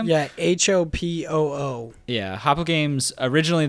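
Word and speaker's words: Hopoo: them but I guess it's habu games is how you say yeah Hopa oh yeah Hoppa games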